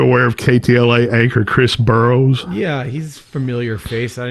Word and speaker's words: Burrous: it's burrows like Greek or something but he pronounces it burrows anchor Chris burrows died from overdose on crystal